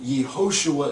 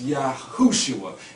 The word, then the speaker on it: Yahushua: and they put Yehoshua, and Yehoshua is only vowel pointed to say Yeho to cover up the name of Yahuwah. Okay, so it's Yahushua, and all that etymological breakdown